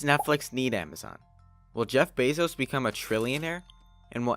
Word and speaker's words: Bezos: to sell books well first of all it's Bezos pronounced Bezos and secondly they still sell books a whole